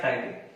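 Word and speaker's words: ptyalin: T silent है तो नाम क्या हो जाएगा, टाइलिन।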